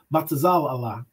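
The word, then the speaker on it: בצלאל: All right, that's how his name is pronounced. Batazal Allah.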